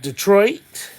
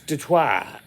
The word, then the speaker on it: Detroit: if any of you don't call it Detroit but the proper pronunciation is DeTour Michigan as to twice French Detroit started out as a French community I'm in Dearborn uh